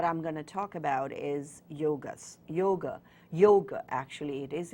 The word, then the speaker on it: yoga: gonna talk about is yoga's Yoga Yoga actually it is it's not Yoga why oh gee it's yoga which is the proper pronunciation and I'm going to